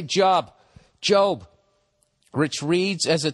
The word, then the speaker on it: Job: I said it right. I didn't say Job.